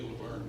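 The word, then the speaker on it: Lavergne: Again, his name is Gary Laverne, L-A-V-E-R-G-N-E. And I think in Cajun, it's pronounced differently. But he lets me say Laverne, because English is my second language.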